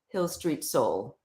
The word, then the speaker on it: Hil St. Soul: social media yes oh she's asking if it's Hill Street no it's uh h-i-l-s-t-s-o-u-l so the street is abbreviated yes that's a nice